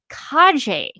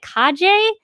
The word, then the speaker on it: Calle: Emmy nominee Sasha, and I believe her name is pronounced Calle. I looked up a video. I looked up a video of her, and this will be in the video description below. And I listened to her say her own name, and to me, it sounded like Calle.